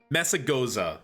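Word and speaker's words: Mesagoza: It's mezmozmozmozaga. Ja. Messagoza.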